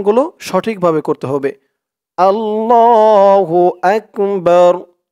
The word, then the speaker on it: আল্লাহু আকবার: র ধরবে বা র জবর বার আকবার আকবার উচ্চারণ গুলো সঠিক ভাবে করতে হবে আল্লাহু আকবার আল্লাহু আকবার আল্লাহু আকবার প্রথম লাইনে দুইবার আল্লাহু আকবার আল্লাহু